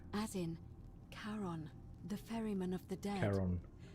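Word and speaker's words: Charon: is a little off the name you heard wasn't Karen it was c h a r o n Shon as in Kon the Fairman of the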